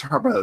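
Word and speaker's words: Harbou: Harbo, it's Harbo. It's not Harbu, it's Harbo. I found this pronunciation through a reputable German website.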